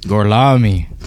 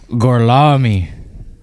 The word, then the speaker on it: Gorlami: Gorlami. One more time? Gorlami.